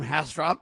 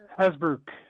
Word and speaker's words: Hasbrouck: How do you say his name? Hasdrop? Edward Hasdrop has this piece? Hasbrouck. Hasbrouck. Hasbrouck, okay.